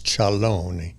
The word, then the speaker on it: Ciarlone: I guess in English it would be Carlo. Charone. Charalone. Italian, it's chaloney.